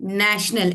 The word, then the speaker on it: national: Like in the spelling TIO, like if I tell you नेशनल, NATIONAL. अब यहाँ पे TIO is pronounced as sh.